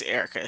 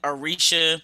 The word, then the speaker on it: Erica: see mispronouncing it and because people my name is spelled with the a so people have said arisha or arika but to add a